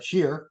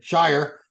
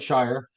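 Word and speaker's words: Shier: second to uh Justin share sheer sorry Shire let me say it right Shire I got in trouble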